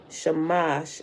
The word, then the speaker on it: Shamash: The S in such translations as Sar, Samas, and Ishtar is pronounced SH in transliterations, making the words Shar, Shamash, and Ishtar.